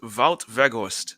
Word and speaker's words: Wout Weghorst: Until substitute Wout Weghorst, yeah, that's how you pronounce his name. The Dutch and the Germans have similar pronunciations. You pronounce the W's like V's.